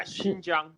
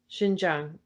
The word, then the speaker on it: Xinjiang: do you pronounce that again i'm sorry yeah xinjiang the x x is pronounced like a h right sh yeah xinjiang okay you know in xinjiang it seems it